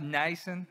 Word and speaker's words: Nijssen: my name is it's pronounced nyson in Dodge um let's move on